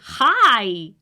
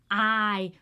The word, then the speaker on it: hay: We don't pronounce the "h" we don't say ahora is "AORA" (now) "Hay" don't say hi no we don't say hi we say "hay" we don't pronounce the "h".